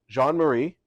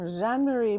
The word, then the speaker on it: Jean-Marie: I am joined by Jean-Marie. Yes, did I pronounce it correctly? Yes, you did. Please give us your full name and your official title here at Canyon Ranch. I'm Jean-Marie, and I lead